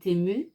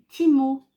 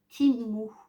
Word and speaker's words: Temu: maman, ça se prononce Timo. J'ai dit ok, donc on va prononcer Timu, hein, puisque voilà, effectivement le E en anglais se dit I et le U se dit OU, donc ça fait Timu.